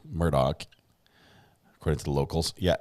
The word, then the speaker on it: Murdaugh: she's watching it's for you um murder podcast pronounces it elec Murdock according to the locals yeah Alec is is